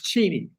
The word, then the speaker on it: Cheney: It's Cheni. He doesn't care, Cliff, that you mispronounce it.